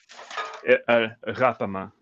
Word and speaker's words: Ghapama: Ghapama. It's kind of Ghapama. like the French R, like. Right. Or the Dutch Ghapama.